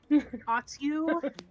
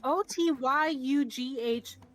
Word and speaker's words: Otyugh: And instead of trying to fight this giant, how do you pronounce this? I think we all struggled with it. Otyugh? Yep. Otyugh mutate.